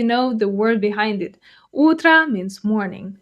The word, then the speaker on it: утро: Утро means morning. The stress is on the first syllable, so утро.